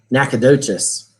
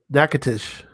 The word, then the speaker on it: Nacogdoches: next that's nice yeah nacogdoches yeah not douches yeah so yeah what if you're cajun and how how's it gonna spill or if you're in louisiana nakatish not spelled like you